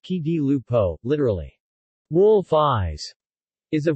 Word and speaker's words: Occhi di Lupo: Occhi di Lupo, pronounced Chi di Lupo, literally, wolf eyes, is